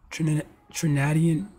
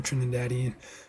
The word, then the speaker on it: Trinidadian: October 5th 1974 Trinidadian TR that's how you pronounce that Trin Trinidadian Trin tradan no it's definitely Trinidadian Trinidadian born American singer songwriter record producer and